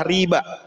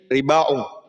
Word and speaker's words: riba: Sehingga bacanya adalah riba. Ya. Jika memakai alifnya adalah mamdudah, bacaannya menjadi ribaung. Ya. Tapi di sini riba.